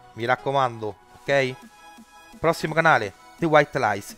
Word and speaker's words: The White Lies: Prossimo canale, The White Lies. Si pronuncia The White Lies perché io avevo detto The White Lies su un video vecchio. Sono stato corretto, quindi The White Lies, ok?